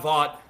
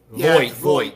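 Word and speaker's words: Voight: I want to plug in this one video here of John Vaught. Like I said, guys, bear with me. I'm terrible how to pronounce.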